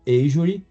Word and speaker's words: Azure: E aí o risco é praticamente zero, porque a gente usa uma nuvem da Microsoft, o qual que é chamado Asury, se escreve Azure. O Asury da Microsoft, ele por contrato diz que não treina com nossos dados.